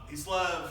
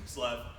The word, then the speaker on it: Kislev: Kislev or Chislev, however you want to pronounce it. Got to get the guttural sound in there, Kislev.